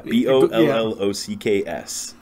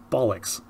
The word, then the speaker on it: bollocks: Yeah, B-O-L-L-O-C-K-S. And I've always heard it pronounced bollocks. Yeah, well, it depends on your accent. I said bollocks. Bollocks, I guess, works as well, depending on where you're from.